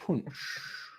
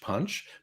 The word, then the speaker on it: Punsch: Most people just say Swedish punch, but because it's spelt Punsch, and because I watched The Swedish Chef growing up, I feel compelled to call it Swedish punch.